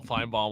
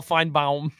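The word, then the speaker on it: Finebaum: didn't know who Paul fine bomb was he's like this Paul fine bomb guy couldn't even pronounce his name right Paul Fine Bal Bal like lip Bal like lip balm who is this Paul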